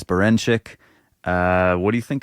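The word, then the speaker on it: Berinchyk: Emanuel navarete versus denck burnic did I say his name right no baren bin Emanuel navarete versus Dennis berenik uh what do you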